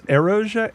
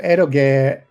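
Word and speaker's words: エロゲ: Uh what's your favorite What is this eroge eroge?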